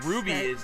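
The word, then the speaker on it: RWBY: note um this this weird little show called Ruby um slow that is how they pronounce it it's with our wby yeah so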